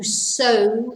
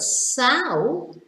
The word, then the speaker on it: sow: farmers throwing the seeds you sow seeds to grow vegetables but sow completely different is a female pig so so to plants